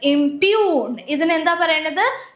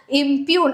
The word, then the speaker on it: impugn: This is impugn. Impug. I know the word doesn't look like how it is being pronounced correct pronunciation.